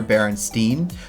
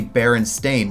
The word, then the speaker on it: Berenstain: I talk about the Berenstain or Berenstain Bears and how nobody knows what. A lot of people think that it was Berenstain or Berenstein, but it's actually Berenstain, which is weird.